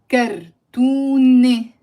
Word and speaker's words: كرتونة: So on its own, again, the word is كرتونة. كرتونة. So there is no pronunciation of the t in the end.